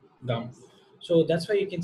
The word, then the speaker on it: Gam: This is exactly the same pronunciation of Gam. Gam.